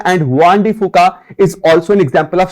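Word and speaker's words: Juan de Fuca: Eighth plate is Hwan डी फूका, इसको जुआन डी फूका नहीं प्रोनाउंस करेंगे, हम करेंगे हुआन डी फूका।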